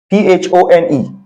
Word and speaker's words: phone: can have a word like phone phone okay p h o n e this p it should have been pronounced pone but it is pronounced phone it